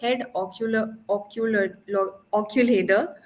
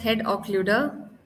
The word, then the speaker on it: occluder: something known as a head occulator. Really difficult to spell. So it's easy for us to place it. It's actually pronounced as head occluder.